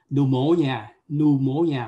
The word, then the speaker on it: pneumonia: phổi có phải không, pneumonia, mặc dù có chữ P phía trước nhưng mà nó không phát âm chữ đó.